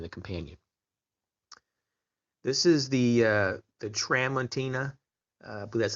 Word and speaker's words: Tramontina: This is the Tramontina, I believe that's how you say it, the Tramontina Bolo style machete.